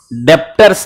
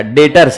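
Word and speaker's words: debtors: इस आदमी को नाम दिया गया डेटर्स, बोलो एक बार डेटर्स, कैसे बोलोगे, इसकी स्पेलिंग होती है डीई बी टी ओ आर एस, डेप्टर्स नहीं बोलने का, डेटर्स है, बी साइलेंट है, उसमें मेरी गलती नहीं,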